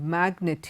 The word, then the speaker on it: magnet: the words given below signature cognitive magnet here the G is pronounced but in many other